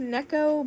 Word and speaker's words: Neko: I'm pretty sure it's pronounced Neko, but go off, I guess.